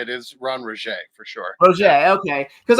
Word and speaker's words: Rogge: Is Ron Rogge for sure.